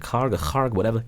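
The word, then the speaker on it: Kharg: Treasury Secretary Scott Bessent also chimed in, saying Iran's oil storage facilities on the Karga Island, pronounce it Karga Island, are going to be completely maxed out in just a few days.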